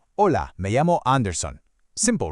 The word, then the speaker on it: hola: Now, the key thing to remember with the pronunciation here is that the H is completely silent. So, you just say hola.